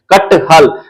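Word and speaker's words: कटहल: मगर एक साथ लिखा हुआ है तो उसका उच्चारण करते हैं कट हल तो वहां हमारा लिखने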